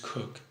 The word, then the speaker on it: Coke: Bonhams case Sarah Sarah had Ward cook it's spelled coke co ke but it's pronounced cook was the chief justice